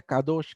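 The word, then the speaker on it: קדוש: La palabra santo en el hebreo se pronuncia kadosh, que quiere decir separado, consagrado y dedicado.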